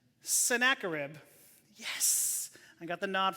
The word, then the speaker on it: Sennacherib: Let's see if I can pronounce his name right. Sennacherib.